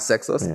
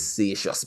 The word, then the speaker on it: Seixas: So she decided it's not Sexos, it's Seixas because it's French.